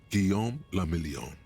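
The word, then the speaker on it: Guillaume Le Million: meant only one thing Gom lilon if it doesn't rhyme you're not pronouncing it right out of the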